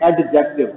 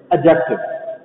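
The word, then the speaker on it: adjective: पहली बात तो ये है कि आपने इसको पढ़ना है एडजेक्टिव। लोग पढ़ते हैं एडजेक्टिव, मोस्टली लोग डी को वो प्रोनाउंस करते हैं, लेकिन हम नहीं करेंगे एडजेक्टिव।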